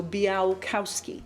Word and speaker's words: Białkowski: And the L in the name has a little line through it, which means it's pronounced kind of like a W. What? Yeah, so Białkowski. Białkowski.